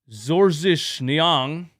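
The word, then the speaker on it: Georges Niang: Doc Rivers went with George Nyang to pron to pronounce it in in his father's native language. Zorzish Nyang.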